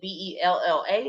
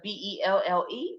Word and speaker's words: Belle: see my face there sometimes they pronounce my name a little wrong and spell it they spell it as b-e-l-l-a instead of b-e-l-l-e but belle and bella means the same thing you know one is french belle is french patient